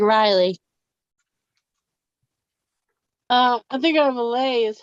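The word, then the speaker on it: R'lyeh: I mean, it has an apostrophe between, but there's no nothing to make a long I sound in between there.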